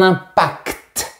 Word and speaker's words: impact: Mais pour certains mots techniques, j'ai bien réfléchi et j'ai trouvé pertinent de garder la prononciation du t. Par exemple, on dira un concept et un impact.